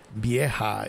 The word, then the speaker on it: vieja: Yes, in Spanish, a V is a B. Vieja. Vieja is the right pronunciation.